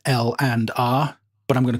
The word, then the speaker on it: LANDR: I always call it lambda but apparently you're supposed to pronounce it L and R but I'm gonna call